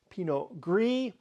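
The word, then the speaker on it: Pinot Gris: to it okay pinio in French it's called Pino gree and it's one of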